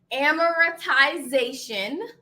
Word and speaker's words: amortization: Now, amortization. Okay? Amiratization. I'm saying it over and over again so you know how to pronounce it.